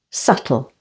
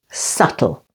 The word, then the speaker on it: subtle: d out say doubt and subtle say subtle the stress is on the first syllable subtle or after an M